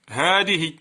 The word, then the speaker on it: هذه: لأن هاء التنبيه إذا دخلت على اسم الإشارة تحذف ألفها رسما وتثبت نطقا. هذه.